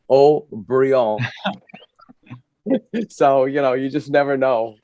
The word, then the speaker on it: Haut-Brion: And her name is O'Brien, but the French pronounce it Haut-Brion.